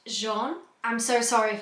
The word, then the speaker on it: Jean: Now, as I was reading this book, I was pronouncing it Jean. That's how I read it from a British point of view. However, I've since been informed that it's actually pronounced the French way, which I think is pronounced Jean.